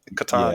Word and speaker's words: Catan: Is that how you pronounce it? Yeah. Catan.